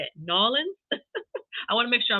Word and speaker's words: New Orleans: do you say it Nolan I want to make sure I'm standing right I know it's not New Orleans it's like knowledge um so and maybe